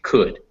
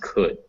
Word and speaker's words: could: seen this word before you'd assume this l sounded like something you assumed that this o u made a unique sound but really as we can see that phonetically it's actually just could it's just pronounced could so um a lot